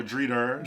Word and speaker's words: Drita: we open the episode with Audrina greeter Oh Drita Drita yeah that's how she pronounces there's I know this